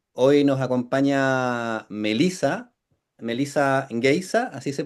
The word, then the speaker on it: Geise: Melisa Geisa, así se pronuncia tu apellido. Heisa. Geisa. Pronuncié mal el de Pablo la semana pasada. Un desastre. Melisa Heisa.